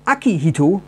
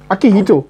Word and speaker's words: Akihito: Und zwar 1989 wurde nach dem Tod seines Vaters Hirohito der Kaiser Akihito König von Japan. Akihito? Akihito. Ja. Akihito. Also ich habe es falsch betont. Du hast es jetzt auf Indisch ausgesprochen.